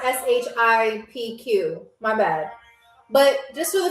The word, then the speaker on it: Shqip: So SHQIP, not SHIPQ. My bad. But just for the future, that's how you spell it.